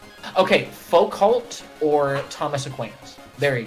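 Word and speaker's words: Foucault: or die like n like it's like okay faux cult or Thomas aquinos there you go F Fuko Fuko or Thomas you said FAL whatever whatever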